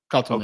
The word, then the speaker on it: Kotelnicki: It's Kotelnicki. Is that how you say his name, Ryan? How do you say his last name? Kotelnicki.